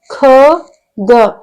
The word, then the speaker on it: ಖಗ: ಜ ಳ ಜಳ ನೆಕ್ಸ್ಟ್ ಖ ಗ ಖ ಗ ನೋಡಿ ನಾನು ಉಚ್ಚಾರ ಮಾಡೋದನ್ನ ಗಮನಿಸಿ ಕಗ ಅಂತ ಹೇಳ್ತಾ ಇಲ್ಲ ನಾನು ಖಗ ಖಗ ಇದು ಮಹಾಪ್ರಾಣಾಕ್ಷರ ಧ ನ